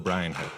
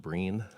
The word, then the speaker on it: Bryan: So let's give a warm 1MC welcome to Bill Bryan. Last name is pronounced Breen. Oh no, I know Tyler. So no, it's all right. It looks like Brian.